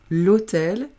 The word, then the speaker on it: hôtel: en en lettres muettes on ne prononce pas le h donc ça fait avec